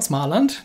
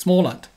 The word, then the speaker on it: Småland: small land it's not smartland there's a little little circle over the a which means it's pronounced all so it's small land uh this is literally